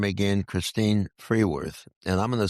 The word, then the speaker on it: Fruehwirth: Christine Freeworth. And I'm going to spell it for everybody.